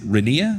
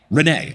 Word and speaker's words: Renee: Is it Renea? Is that how you pronounce it? Renee. Okay, Renee. Mike, you're in one of the other BBQ capitals of the U.S.